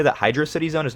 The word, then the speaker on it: Hydrocity: the Sonic community on if this level is pronounced Hydro City or hydrocity the answer is hydrocity by the way if you think otherwise you're wrong while I normally hate